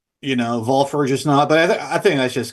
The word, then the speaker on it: Walpurgisnacht: well, do you say wall purchase knot or well purchase knot? I think you're supposed to pronounce the W like a V, you know, purges not, but I think that's just kind of, you know, doesn't matter.